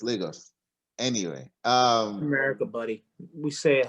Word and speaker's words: Lagos: i'm from nigeria and i really hate the way they pronounce lagos they keep saying lagos and they've been saying that since captain america civil war so it's lagos anyway um america buddy